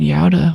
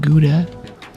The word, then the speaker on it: Gouda: I actually visited Yada when I was in Holland for Twitchcon Roderdam. It's spelled Gouda American pronunciation, but cute little town.